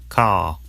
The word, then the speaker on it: car: father father car car notice that the final R sound is not pronounced in British English father ends in a simple schwa vowel like father and in car the vowel sound is lengthened in place of the R sound car now the thing